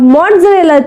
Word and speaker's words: mozzarella: The word is mozzarella. We call as mozzarella. Mozzarella nahi, mozzarella. The word is, or the correct pronunciation is mozzarella.